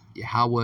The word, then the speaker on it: Yahweh: Yahweh is how you say it.